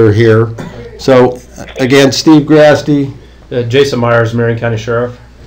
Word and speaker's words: Grasty: Representative, this is Steve Grasty, Harney County Judge. Hi, Mr. Graspy, did you say? It is Grasty, and it's spelled like nasty.